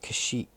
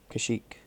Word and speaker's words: Kashyyyk: You play all the, in Hoth, you can play on Kashyyyk, I think that's how you pronounce it, Kashyyyk.